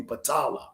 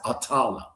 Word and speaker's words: Patala: It's really Patala, okay? Or some people pronounce it Atala.